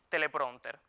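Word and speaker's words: teleprónter: lo recomendable es emplear la adaptación telepronter Por qué bueno porque se acerca a la pronunciación más habitual de dicha palabra se acomoda las normas ortográficas del español y goza all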